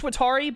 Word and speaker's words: Watari: He's going to go over and get Watery's name, or Watari. I think it's Watari, but I say Watery because I say it too fast.